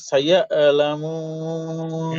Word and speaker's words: سيعلمون: ثم كلا سيعلمون আইনটাকে double উচ্চারণ হচ্ছে ভাই, সায়া এরকম উচ্চারণ হচ্ছে, সায়া লামুন, সহজ, সায়া লামুন।